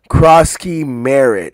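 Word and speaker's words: Croskey-Merritt: How do you pronounce his name? Ja'Cory Krosky Merritt, excuse me.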